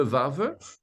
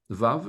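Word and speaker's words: וו: C'est la 6e lettre qui se prononce de 3 manières différentes, V, O, U.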